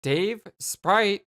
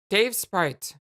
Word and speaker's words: Dave Sprite: It's not Dave Sprite. It's just Dave Sprite.